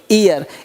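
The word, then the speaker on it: heir: मतलब उत्तराधिकार हर नहीं बोलेंगे एयर एयर मतलब उत्तराधिकारी ओनर नहीं बोलेंगे आज वो सब हो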